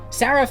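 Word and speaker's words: שרף: and comes from the hebrew word seraph which i'm pronouncing from the hebrew letters you can see right here saraf means serpent or fiery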